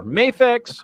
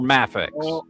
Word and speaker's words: Mafex: Acceptable ways to pronounce that are Mayafex or Mafex.